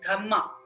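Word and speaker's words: dhamma: Pali in piali language dharm is pronounced as dhma d h MMA a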